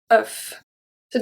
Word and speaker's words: œufs: Un neuf, closed sound, we pronounce the F at the end.